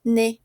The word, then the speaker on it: nez: Ouais, d'accord, tenemos le visage de Nam, la bouche de Fatou, ça va, le nez, ok? On ne prononce pas Z.